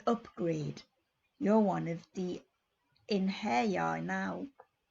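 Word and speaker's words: Einherjar: You're one of the Inherjar now. He pronounced the word like Inherjar.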